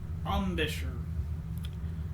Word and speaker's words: embouchure: Steve says it's pronounced Ambish or Ambisher.